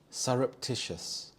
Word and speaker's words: surreptitious: to undermine her reputation surreptitious surreptitious here the stress is on the third syllable Tish surreptitious this this means secretive